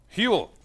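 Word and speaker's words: Huell: Huel. That's 2 syllables. Kind of. It is 2 syllables.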